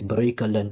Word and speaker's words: Breukelen: It's not Brooklyn, it's Breukelen because you cannot pronounce it.